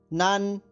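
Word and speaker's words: 南: इसकी spelling note कीजिए, NAN। एक बार फिर सुनिए, NAN। अब इसका ध्वनि वादन सुनिए, नान, नान, नान।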